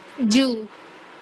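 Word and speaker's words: じゅう: ஜூ. ஜூ. சோ இந்த letter வந்து ஊ யூ அதான் ஊ லெட்டர். ஓகேவா? சேர்த்து ப்ரொனவுன்ஸ் பண்ணும்போது ஜூ ஜூ கூடவே சேர்த்து அந்த ஊ லெட்டரும் ப்ரொனவுன்ஸ் ஆயிடும்.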